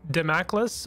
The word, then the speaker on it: Damocles: And apparently it's called Sword of Damocles, or at least that is another correct pronunciation.